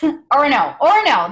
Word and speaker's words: Orono: She received her BA in geology from the University of Maine at Orono. I think I said it wrong. Orono, there it is.